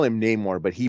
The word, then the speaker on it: Namor: he they call him Namor but he pronounces his name no more and they call him nemour because he is that's what he's described as by the colonizers of the of the